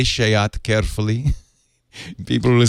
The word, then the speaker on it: SEAT: it they pronounce it it's spelled seat but it's pronounced shayat yeah it could be